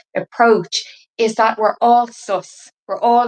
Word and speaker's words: sous: So they understood imbas as this divine illumination, and also sus. It's spelled like the French sous, S-O-U-S, which is more of